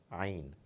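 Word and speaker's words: ع: It comes from deep inside the throat, a very special sound, Ain, Ain. We people belonging to the subcontinent quite often struggle to bring it out from the right place.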